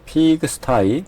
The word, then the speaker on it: pigsty: "i" 가 아니라 "pigsty " 발음 입니다 .